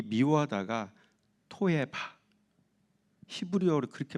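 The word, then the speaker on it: תועבה: 그러니까 이 얘기를, 이 표현을 히브리 원어로 보면 이 미워하다가 토에바, 히브리어로 그렇게 발음이 토에바.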